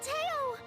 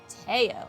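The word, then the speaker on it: Theo: my dad says no who are you Uncle Tao Teo that's how you pronounce that I am the baron of yir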